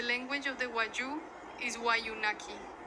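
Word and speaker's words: Wayuunaiki: The language of the Wayuu is Wayunaki. The consonants are long and the accent generally falls on the second syllable of the word.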